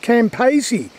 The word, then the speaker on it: Campaspe: And this river here, I think it's called, it's pronounced Campaspe.